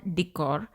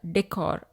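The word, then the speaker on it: décor: त्यांना म्हटले जात वॉल डिकर किंवा वॉल एक्सेंट डिकर चा उच्चार डेकर असाही केला जातो डिकर किंवा डेकर मेटल वॉल डिकर धातु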